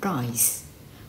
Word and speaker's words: rice: Rice แปล ว่า ข้าว ถ้า เรา ออก เสียง ผิด ออก เสียง เป็น ตัว L กลาย เป็น I want to is some L แปล ว่า เห็บ เหา นะ คะ ก็